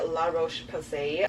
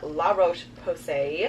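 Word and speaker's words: La Roche-Posay: is my new favorite moisturizer this is the La Roche passe I also recently found out the correct way to pronounce the brand La Roche Posay I have their double repair face moisturizer thank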